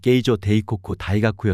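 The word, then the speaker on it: 京城帝國大學: 이어 여섯 번째로 창설됐다 정식 교명을 일본식으로 발음하면 게이조 데이코쿠 다이가쿠 있으나 흔히 약칭으로 조다이 아고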